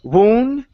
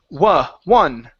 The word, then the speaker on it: one: Okay, this one is pronounced exactly the same way. Instead of woon, it's one.